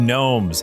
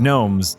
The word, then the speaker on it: Gnomes: You know, because in Union of Gnomes, the G is silent.